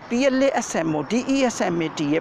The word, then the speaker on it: plasmodesmata: term is written here spelling will remember your pronunciation will be important to learn the spelling of the plasmodesmata plasmo de smeta plasmodesmeta first of all don't worry i am